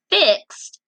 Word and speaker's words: fixed: She had fixed up her long, pretty hair. All right, I found another ED. Fixed. And what sound does it make? T, t. Another one that makes the T sound at the end.